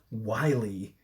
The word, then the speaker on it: Yle: But Yle is so funny because they also have news in English and then it's pronounced Wiley.